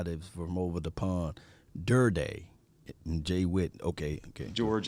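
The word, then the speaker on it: Durde: Oh, so that's how you say his name, Durday. That's the guy that's from over the pond, Durday, and Jay Witt.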